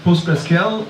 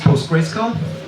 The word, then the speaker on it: PostgreSQL: running so to recap very quickly um it's pronounced post scl or if if you want to be uh even better but it's unofficial it's post gr SC um there are very very many handy data